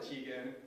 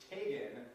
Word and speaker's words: Tegan: Her first name, it looked like Tegan, but it wasn't Tegan, it was Tegan. It rhymes with Reagan.